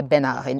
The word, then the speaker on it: Bernard: quite yet but remember I know it's spelled best nerd but we say Bernard in French anyway back to back